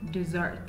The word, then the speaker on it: dessert: desert is better so we're trying to say dessert yeah all right sot dessert dessert can I